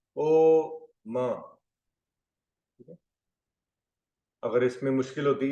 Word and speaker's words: ओम: चाहिए बिल्कुल स्टेबल अ ओम का उच्चारण अम अम अ ओ म अगर इसमें मुश्किल होती